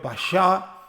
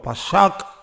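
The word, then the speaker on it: פסח: Yo les he enseñado en los cursos que enseñamos en Comunidad Cristo para las Naciones, que la palabra Pascua viene del hebreo Pashá, otros lo pronuncian como Pashak o Pasak.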